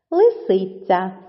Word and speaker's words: лисиця: Лисиця.